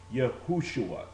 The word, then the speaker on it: Yahushua: not now understand that this word is properly pronounced okay yahushua not Jesus and again when you